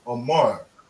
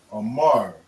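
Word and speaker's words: אמר: Or to speak in Hebrew is amar. Amar, which is a ah. We spell it a ah, a ma, and a ra. Amar.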